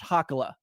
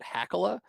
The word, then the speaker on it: Hakala: that's actually how it's pronounced, but my family pronounces it Hakala. And Hakala.